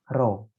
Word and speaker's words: rho: Rho, ya. Ini dibacanya rho.